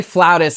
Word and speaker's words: flautist: about how, you know, flutist, is that how you say it? Like like is that the right way to say it? Some people say flautist, and I'm like, you're just trying to be bougie. There is I don't play on a flaut.